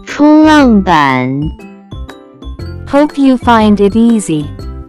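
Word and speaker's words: 冲浪板: Next vocabulary that we have is surfboard, which in Chinese can be pronounced as 冲浪板，冲浪板，冲浪板。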